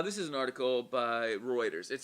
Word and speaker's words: Reuters: how to pronounce this is it routers or reuters what this the news the news organization am i totally slaughtering it let me pull this up reuters reuters that's what it is okay uh this is